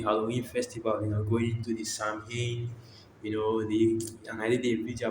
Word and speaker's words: Samhain: So this was Samhain, Gaelic word pronounced Samhain, is a pagan religious festival originating from an ancient Celtic spiritual tradition.